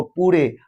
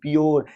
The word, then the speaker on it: pure: फ्यूचर को फुटूरे पढ़ देते थे, नेचर को नाटूरे, प्योर को पूरे, श्योर को सूरे। तो बाद में पता चला कि इसका स्पेलिंग CSURE, तो श्योर, PURE प्योर, NATURE नेचर, FUTURE फ्यूचर, फुटूरे नहीं।